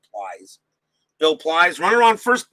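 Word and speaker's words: Pleis: he'll go up against bill police or plies i don't know if that's i think it's probably about plies i'm pretty sure it's pronounced plies bill plies runner on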